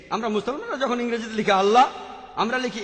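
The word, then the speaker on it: الله: ঠিকভাবে উচ্চারণ করলে আমরা বলবো আল্লাহ তারা বলে এলা সমস্যা নেই তবে সঠিক উচ্চারণ হলো আল্লাহ পরে যখন রেভারেল স্কটফিল্ড বুঝতে পারলেন যে তিনি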